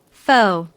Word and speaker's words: pho: Pho. Yes, that's pronounced fa, right? Yes, exactly.